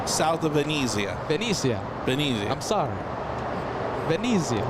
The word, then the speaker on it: Venezia: South of Venetia. South of Venezia.